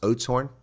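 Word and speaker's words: Oudtshoorn: You pronounce pronouns Ootshorn like oats and the porridge horn like horn. I have no idea what you're saying. Oatshorn. Is that what you're saying? It's pronounced Oatshorn?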